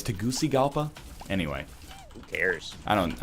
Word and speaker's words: Tegucigalpa: like that's I'll take that shit what it's pronounced like I like that name I'll take the a- parently it's Tegucigalpa anyway who cares I don't I don't speak